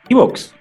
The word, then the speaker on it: iVoox: encuentran en Anchor, en iVoox, ¿cierto? Sí, ahí vamos Viviana, mejorando la pronunciación. Viviana, O si lo escuchan en español, iVoox.